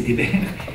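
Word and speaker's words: דֶּבֶר: lis Dalet Betrech, et je prononce Dabar, c'est pas Dabar, c'est Déber, et c'est la peste destructrice.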